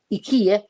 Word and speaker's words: IKEA: don't come from as they come from Ikea Ika Ika I think they they pronounce it don't they the advert pronounce it more like that so I have done